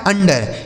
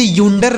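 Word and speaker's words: under: एन से आधा न डी ई से ड आर से र ये लिखा आपका अंडर क्या लिखा है अंडर इसे यूंडर नहीं पढ़ेंगे अंडर पढ़ेंगे क्या पढ़ा जाएगा अंडर ठीक है ना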